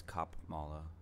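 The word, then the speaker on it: Kamala: Harris is from California you pronouncing her name wrong it's cop mala but here's another poll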